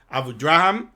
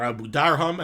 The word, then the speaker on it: Abudarham: There are those that say, and he brings this down, the Berurah says this comes from the Abudraham, or Abudarham, as I believe it's properly pronounced.